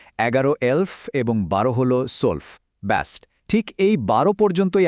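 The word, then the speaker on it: zwölf: 7 হলো জিবেন, 8 8, 9 9, 10 সেহন, 11 এলফ এবং 12 হলো সোলফ।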